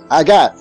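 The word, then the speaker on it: הגה: Delicia viene de la palabra hebrea agad, se escribe H-A-G-A-H, agad.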